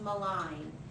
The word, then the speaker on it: malign: this word is pronounced malign and everyone always wants to save the Lynch but it's the line and so it's one of those stinkin silent G words and it's a verb